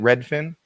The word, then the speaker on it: Redfin: new market report from Redfin. Is that how you say it? Redfin? Yep. Yeah, it's kind of like one fish, two fish, red fish, blue fish, except it's Redfin.